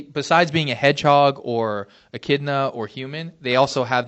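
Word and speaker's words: echidna: I think I think it's Akidna. Akidna. There you go. That's what it is. Akidna. I knew I was saying it wrong.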